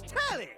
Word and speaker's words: Telly: The name's Telly. Rhymes with like Whoa, Nelly.